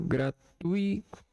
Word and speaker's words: gratuito: A sílaba tônica é o tuito, gratuito. Essa aqui é a sílaba tônica, tuito, gratuito.